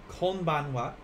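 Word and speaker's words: こんばんは: evening will be konbanwa konbanwa and just like before i'm using the h a even though it's pronounced as what and for this lesson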